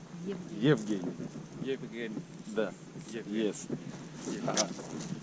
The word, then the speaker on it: Евгений: Евгений. Evgeny. Евгений. Evgeny. Да. Evgeny. Yes. Ага. It's the same. Now you pronounce my name.